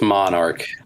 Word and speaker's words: MNRK: to say this what is it yeah it's Monarch Monarch okay cool cool um dude the roster